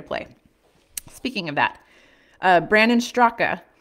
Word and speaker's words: Straka: Speaking of that, Brandon Straka, I think it's actually Strock and the A is silent, was arrested this week for incidents relating to the events that took place at the U.S.